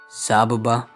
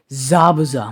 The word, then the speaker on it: Zabuza: as the person on that blade would be sabuba whoa I do apologize for that I kind of mispronounced his name there ah I don't know what I was thinking but anyways I do apologize Zabuza my bad zabaza was on the sword as